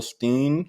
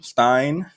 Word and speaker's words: Stein: people who voted for Jill Steen Stein now let me look how this is pronounced to make sure I'm not like gentrifying somebody's name Stein here let's practice together Stein Stein Stein Stein Jill Stein Stein Stein got it so whoever voted for